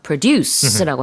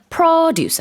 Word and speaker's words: produce: 이 명사일 때는요, 강세가 앞에 있습니다. 동사할 때 우리가 뭐 생산하다 하면서 produce라고 하지만 이 명사는요, produce 아니면 produce 이렇게 발음한다는 거 요거 주의하시면 될 것 같아요.